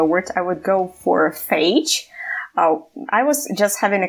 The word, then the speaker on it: phage: P-H-A-G-E-S. Once again, two letters. Phages. Yeah. Phages. It's almost like page, but with letter H after P.